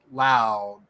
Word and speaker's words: Lowe: Brandon Lau is Lau. Nathan is Lowe, and they're spelled the same way.